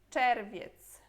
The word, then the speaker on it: czerwiec: Depois temos aqui czerwiec.